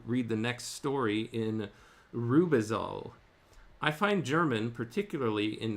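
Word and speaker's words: Rübezahl: I managed, however, to read the next story in Rubisol.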